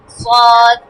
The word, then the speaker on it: صاد: صاد صاد ভিতর থেকে একটু আমাদের জিহ্বার শেষের অংশটা আছে না, ওটা একটু লাগাও, উপর দিকে লাগিয়ে উচ্চারণ করো, দেখো একটা মোটা শব্দ বের হবে।